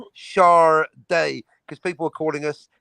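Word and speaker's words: Sade: was in the 80s which is like chardee who was built s-a-d-e and thinking how they get charlie cause that's her name you don't pronounce it i remember buying her album in new york and it had the stickers pronounced shah day because people were calling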